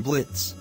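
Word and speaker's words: Blitzø: me millie hello i'm blitz the o is silent and i am the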